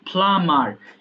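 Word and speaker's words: plumber: এখানে বি এর উচ্চারণটা হবে না। এটা হবে ফ্লামার। এবং শব্দের শুরুতে যদি পি থাকে তাহলে ফ এর মত উচ্চারণ করবা। ফ্লামার বাস ড্রাইভার বাস চালক বুছার কষায়।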